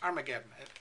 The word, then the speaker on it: Armageddon: the armies together to the place which in Hebrew is called har mageddon we pronounce it in English Armageddon har means Mountain mageddon